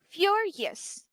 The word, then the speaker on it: furious: So, it is pronounced as furious. Again, the primary stress is on the first first syllable. Furious. Furious.